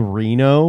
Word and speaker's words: Reno: usually i think the the correct way to pronounce reno is re no and um some people